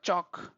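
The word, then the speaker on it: chalk: نه تلفظ کیږي د ګوره چاک چاک تباشیر ال نه تلفظ کیږي ټاک ټاک اکثره کې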